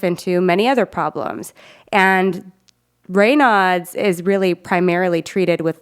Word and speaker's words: Raynaud's: I think a good example of this is Raynaud's disease. Some people call it Raynaud's, which is the French pronunciation.